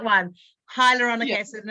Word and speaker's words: hyaluronic: i'm going to say it wrong hydrochloric acid hyaluronic hydrochloric is not good right high yeah hyaluronic